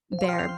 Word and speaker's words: Bexar: And then you can find me on Twitch, underscore bear, BEXAR, not BEAR. The X is silent, by the way.